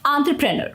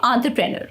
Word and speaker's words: entrepreneur: and purse or nerd entrepreneur okay entrepreneur so when you put it all together it sounds like entrepreneur remember to stress the on syllable and the rest of the syllable should flow smoothly practice saying it a